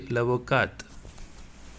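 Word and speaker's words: l'avocate: one lavoca in feminine we have to say lavokat so lavoka so this here you should not pronounce the t but here you have to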